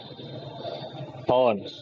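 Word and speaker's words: horn: क्या होता है, इट्स हॉर्न, क्या होता है, हॉर्न, ठीक है। उसमें भी आर को थोड़ा और साइलेंट करो तो इट्स होगा हॉर्न, ठीक है, ये हो गया।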